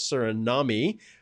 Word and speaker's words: Suriname: South American Spanish speakers Suriname II which I just learned is how it is pronounced by some of those